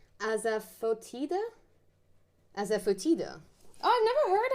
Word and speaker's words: asafoetida: It's pronounced asafoetida.